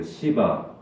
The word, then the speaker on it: 시바: 시바. 이 발음을 잘해야 돼요. 시바.